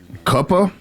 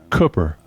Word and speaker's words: Cooper: Koopa. I love how you still can't pronounce my name. Cooper, cooper.